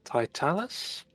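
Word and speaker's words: Tytalus: is the house pronounced uh Thai Talus I think it's like titles yes I kept calling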